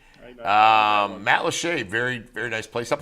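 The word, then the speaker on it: Matlacha: Matt Lachey, I know that one. Yeah, you got that one right. Matt Lachey, very, very nice place up in Lee County.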